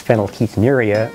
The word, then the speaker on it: phenylketonuria: can say it teddy the correct pronunciation is phenylketonuria or pku pku is a